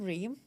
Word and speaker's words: Reem: Um I'm a I'm You guys you guys say my name, Reem, right? Correctly. A a of people they just like "Rem, rem, rem, rem."